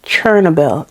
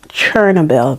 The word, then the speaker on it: Chernobyl: So, the C H E, although it's written C H E R, it's pronounced C H O R.